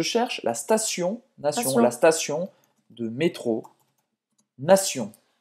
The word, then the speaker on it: station: Se escreve assim em francês, não tem o E no início da palavra, não é estação, é station.